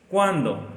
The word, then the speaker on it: cuándo: Otra pregunta que siempre lleva acento es ¿Cuándo? Acento en la A.